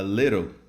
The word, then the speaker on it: little: Então observa que quando eu falo little, a pronúncia, a minha pronúncia dessa palavra, ela finaliza lá no L.